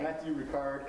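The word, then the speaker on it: Matthieu Ricard: Matthew Ricard and Trin Huan Huang.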